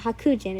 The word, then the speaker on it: Hakuji: Then Hakujin, I think that's how you say it. Hakujin is the right thing.